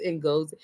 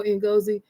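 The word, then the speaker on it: Ngozi: That's Ingosi. you know, in Gozi. Um, some a Nigerian came into the store and I told him I says I said I need to know how to say her name and they told me to say in go and say that's when they really know how to say the name.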